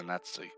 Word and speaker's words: Zanetti: I want to say Zanetti.